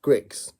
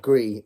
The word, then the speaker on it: Grix: So I've got a feeling the correct pronunciation is Grix and not Gree, like I said in my original, my first response video done for his channel.